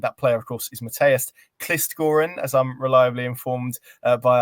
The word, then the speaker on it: Mathias Kvistgaarden: That player of course is Matest Kistgoran as I'm reliably informed by our guest the pronunciation is and I'm delighted to be joined